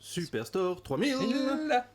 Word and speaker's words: Superstore 3000: te reprendre tout à l'heure mais ça se prononce superstore 3000 mais oui parce qu'on est dans un supermarché